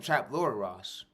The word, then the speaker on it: Trap Lord Ross: Trapmore Ross. Trap Lord Ross. That's how you say his name. Trap Lord Ross.